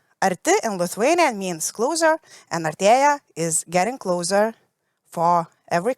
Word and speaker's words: Artea: And I will pronounce it in Lithuanian because it's quite important. Artea is the meaning of getting closer.